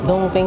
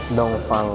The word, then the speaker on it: Dongfeng: so mali-mali pala tayo hindi tayo Dong feng Dong fang pala ang tamang pronunciation hindi Dong feng Okay so Bak bash